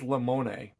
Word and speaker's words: Limone: It is a film by Lucas, I think it's Limone, but he probably pronounces it it means lemon in Italian.